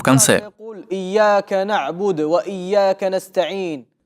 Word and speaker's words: إياك: Некоторые ошибаются в этом аяте, оставляя удвоение в слове. إياك نعبد وإياك نستعين. Это неправильно. Другие читают каф в слове «ияка» с сукуном. إياك نعبد وإياك نستعين. Это неверно. Правильно же читать так.